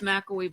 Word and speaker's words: McElwee: And you're like, dude, it's almost See, like I knew it was McElwee because I had a teacher named McAfee. And it's like when people always want to pronounce the thing that's on your computer as McAfee. I'm like, I don't think that's how you say it.